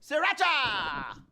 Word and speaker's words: sriracha: Sriracha! Or sriracha, if you pronounce an R.